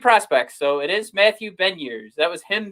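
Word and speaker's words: Beniers: went to elite prospects so it is matthew ben years that was him saying it so if anybody wants to chat or uh chirp right now and say it's it's beignet like the you know tasty treat which one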